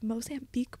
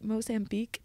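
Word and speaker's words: Mozambique: semester at C I had never heard of mosan Beek before I immediately went to the Safari app on my phone and typed mosan Beek and I feel this is important just to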